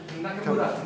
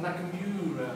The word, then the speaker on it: Nakamura: Japanese pronunciation. Never long. Usami. Never long. Kagawa, not Kagawa. Yeah. Nakamura, not Nakamura.